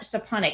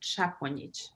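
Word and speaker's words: Šaponjić: for having me uh so my last name is pronounced chaplin thank you don't worry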